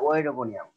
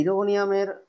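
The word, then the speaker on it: Oedogonium: ই একটা ভাওয়েল, তাহলে প্রথম ও এর উচ্চারণ হবে না, দ্বিতীয় ই এর উচ্চারণ হবে, তাহলে এর উচ্চারণটা কি? ইডোগোনিয়াম। ওকে, তাহলে ইডোগোনিয়ামের ক্লোরোপ্লাস্ট হবে জালিকাকার।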